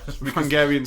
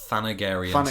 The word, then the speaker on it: Thanagarian: this documentary actually that it was actually meant to be pronounced thanagarian snare Beast because thanagar is Haw